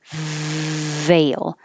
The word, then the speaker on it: veil: and then for 20 make the f position top teeth touch bottom lip because the f and the v are exactly the same position the only difference is v has a voicing veil so if you don't